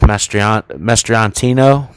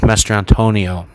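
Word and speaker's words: Mastrantonio: I can tell you that, by Mary Elizabeth Mastriantino. Man, Mastriantonio. I'm sorry, I always mispronounce her name. Mary Elizabeth Mastriantonio.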